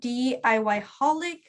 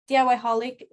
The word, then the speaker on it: DIYholic: Just message me on Instagram at DIYholic. DIYholic, it's spelled D.I.Y.holic.